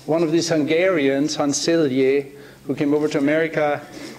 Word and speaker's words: Selye: Now, it was one of these Hungarians, Hans Selye, who came over to America in the 30s or so, ended up at McGill in Montreal, and framed the word stress.